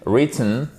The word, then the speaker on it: written: Et ensuite, written, là aussi, faites très attention, on ne prononce pas le W. Et ici, vous avez votre I court que vous retrouvez dans sin. C'est pas written, c'est written.